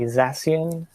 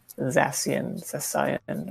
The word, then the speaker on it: Zacian: I guess maybe Zacian. Zamazenta. Bizarre. The first one. I don't think that's a hard C. At the very least, so it's like Zacian, or something.